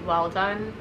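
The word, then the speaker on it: We11done: I got these um it's spelled we 11 done but I think the company is well done but anyway I got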